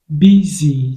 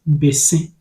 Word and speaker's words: bese: Now, it is pronounced bese, bese. In the Akan language, it is pronounced bese and not busy.